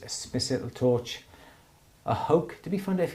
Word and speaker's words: Hoke: Smith's little torch, a hoke. Did we find out if it was hokey or hoke? It's hoke. It's It's rhyme with poke.